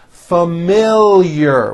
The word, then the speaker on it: familiar: is an exceptional student familiar with a strong L and there's also a hidden y after the L from she has a